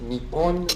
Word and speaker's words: Nippon: The name for Japan in Japanese is written using these kanji characters and pronounced Nippon or Nion.